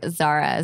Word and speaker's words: Zahra: You can find me on all the social medias at Really Zara. Zara is spelled Zahra.